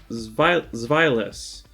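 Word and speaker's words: Zweilous: But Hydreigon is right below accent on the dry part, and the previous evolution to it is pronounced Zweilis. Zweilis, I believe that's how you pronounce it.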